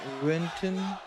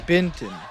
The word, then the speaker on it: Benton: Bottom of Renton. Hey, yeah, it's Benton.